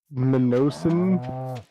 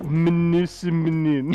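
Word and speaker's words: Mnemosyne: It's like Minosin. It is. It is I think one of. the M. I think the M is silent, but Mnemosine.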